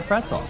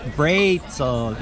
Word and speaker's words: Brezel: When I first got to Germany, I asked for a pretzel, and I got espresso. So Brezel is the way to go if you're here visiting.